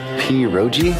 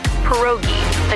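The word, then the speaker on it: pierogi: Peroi. Did I pronounce that right? It's pronounced perogi.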